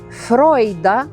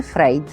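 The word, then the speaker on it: Freud: як Ой фройлайн нойбауер нарешті фройда ми будемо писати і вимовляти так як він справді мав на прізвище фройд а ніякий не Фрейд однак у давніших запозиченнях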